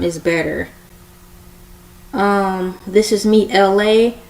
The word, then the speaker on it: ELAY: This is me, LA, pronounced like LA like the city.